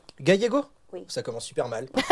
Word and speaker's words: Gallego: Gallego. Ah, Gallego. Gallego? Oui. Ça commence super mal. C'est une dinguerie. Pas de problème. Ça, c'est la prononciation française.